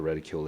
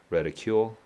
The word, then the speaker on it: reticule: n's mother's reticule now reticule is not reticle so I don't know what a reticule is okay uh it's a bag got it now let me just double check the pronunciation reticule reticule I was correct